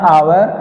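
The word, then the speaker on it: hour: क्योंकि जहां एच जो है वो कसोनेंट जरूर है लेकिन जो उसका प्रोनाउंसिएशन है उसकी जो साउंड है वो वोवेल की आ रही है इसलिए जो है यहां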